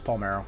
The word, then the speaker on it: Palmeiro: at 31 rbis uh palmeiro pomero oh god i figured out how to say it i already forgot um palmeiro yeah it's paul marrow i know for sure now uh 258 with eight